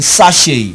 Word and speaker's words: sachet: And you have great, G-R-E-A-T, and you have this same sound in sachet, a sachet of pure water, not sachet. The T there is silent, and the E there is not A but A.